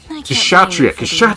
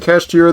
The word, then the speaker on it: Kshatriya: Kshatriya! Jesus! Have I been pronouncing it Kashtira this whole time again?